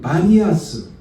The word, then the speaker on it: 바니아스: 이곳의 지명은 바니아스, 원래는 파니아스입니다. 바니아스인데 아랍 사람들이 이 피 발음을 잘 못한대요. 그래가지고 바니아스라고 이름이 지어진 곳이 바로 이곳입니다.